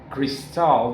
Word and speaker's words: Cristal: uh wonderful place uh called Cristal, not crystal, but cristal because it's spelled with letter I.